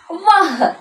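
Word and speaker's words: वह: നീ എന്നാണ് ഇനി അടുത്ത ഒരു വാക്ക് നമുക്ക് നോക്കിയാലോ വഹ് ഇത് ഏതൊക്കെ അക്ഷരങ്ങളാണ് വായും വായും ഹായും വായും ഹായും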